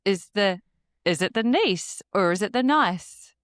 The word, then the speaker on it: Nice: You don't know the niece biscuit. Oh, it's literally coming up. Nice biscuit. But I think it's pronounced niece.